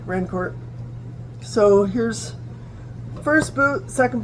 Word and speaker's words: Rancourt: I'm certain that this is a French name. They probably pronounced it Rancourt a couple hundred years ago, but now they just say Rancourt.